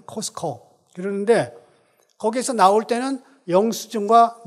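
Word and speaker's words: Costco: 한국분들은 코스트코 그렇게 발음하는데 티자는 발음을 안 하거든. 코스코 그러는데 거기에서 나올 때는 영수증과 물건을 비교합니다.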